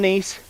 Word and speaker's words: Nice: You know why they pronounce that town Nice? Because the French don't have a word that means nice.